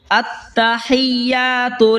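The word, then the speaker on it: التحيات: আত্তাহিয়াতু, এটা হলো বড় হা, হলকের মাঝখান হয়তো উচ্চারণ হবে।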